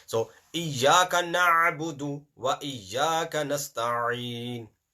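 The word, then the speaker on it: نستعين: So, Iyaka na'budu wa iyaka nasta'in. Ayn is very important. If you're not going to pronounce ayn, either there will be no letter or the ayn will be changed with hamza.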